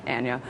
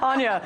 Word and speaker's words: Anya: by Breaking the Set producer Anna for rample I Anya said your name wrong again Anya one of the most